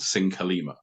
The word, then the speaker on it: Syncolima: logo is now like we we pronounced the name of our Band sing Kalima it's like three syllables and if you look